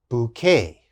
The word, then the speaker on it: bouquet: again a french word we use in english bouquet bouquet and what is bouquet of course bouquet